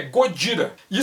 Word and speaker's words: Gojira: irritada aproveita para xingar ele não é Godzilla é gojira-the ser uma referência direta